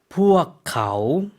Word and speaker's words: พวกเขา: 어떻게 발음하죠? พวกเขา 네.